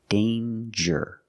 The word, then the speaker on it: danger: danger and anger so with danger we hear the J sound danger there's no nasal sound there's no it's a regular n d j with the J sound like jump and Juice danger but we see this